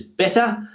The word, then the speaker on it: better: word here which is better. Better. And when we say this word very quickly, better better, we can hear that it is the uh uh schwa sound at the end.